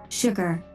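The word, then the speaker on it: STGGR: girlfriend robot you can call me st ggr or phonetically sugar i hope i can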